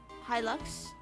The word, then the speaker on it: Hilux: Then after that, I pronounced Hylu, like Lux, Hilux.